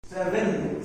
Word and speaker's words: seven: The V sound is, guys, the V sound is va. Va. Va. Seven. Right. V is not wa. W is wa.